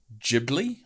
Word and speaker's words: Ghibli: out so i mean you've got the studio ghibli yes pronounce it thank you um and obviously we